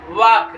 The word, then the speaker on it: walk: वॉक, WALK, वॉक, वॉक means टहलना, यल silent हो जाता है, ED जोड़ेंगे, वॉक, वॉकड, वॉकड।